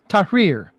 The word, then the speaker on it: Tahrir: His name is Elio Zarmati, and he is the author of a book entitled Goodbye, and is it pronounced Tahrir? Tahrir. Yes.